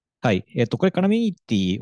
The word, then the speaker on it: Columinity: たねはいえこれあのカラミティと読みますはいえこれ使っ